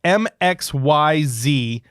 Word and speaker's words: Mxyzptlk: how it's spelled its Mxyzptlk yeah it's really weird I mean it's crazy but if you break it up that way MX mix Y Z yes and then Pete Z pits that's not how you